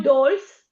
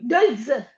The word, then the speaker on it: dolz: O il dolls. Olds. La metterei una di sulla O. Sì. O DS. No, no, niente. Dols con la Z finale. Ah, sì. Dolz.